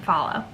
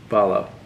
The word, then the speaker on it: Fahlo: so it's actually just you just pronounce it follow follow but it's spelled f a h l o my aunt phow my